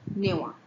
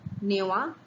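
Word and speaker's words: নেওয়া: you might encounter, but they are pronounced in one way only. Give is dewa, take is newa. Dewa, newa, and last time we saw khawa.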